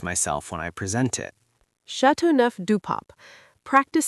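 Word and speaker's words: Châteauneuf-du-Pape: How do you pronounce that? I don't want to embarrass myself when I present it. Chateauneuf du Pape.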